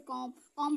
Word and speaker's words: comb: आएगा तो क्या होगा, जब भी आपका एम के बाद बी आएगा तो वो क्या होगा, साइलेंट होगा। लेकिन बी कौन साइलेंट होगा, बी साइलेंट होगा। ये आपको जब आप बार बार रिवीजन करेंगे तो आपको समझ में आएगा। जैसे कॉम बहुत लोग बोल देते हैं, कॉम मीन्स कंघी होता है ना, NUMB नॉम।